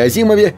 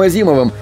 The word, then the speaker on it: Азимов: Чтобы знакомым было легче запомнить правильное произношение его фамилии, писатель придумал забавную мнемотехнику. Он предлагал сказать «has him off», так, будто в этой фразе нет ни одной буквы «H».